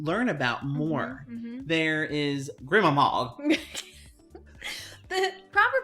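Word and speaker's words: Grima Mog: There is Grimamog. The proper pronunciation is what Brad just said is Gramamog.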